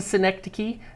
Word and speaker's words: synecdoche: squinting, Synecdoche.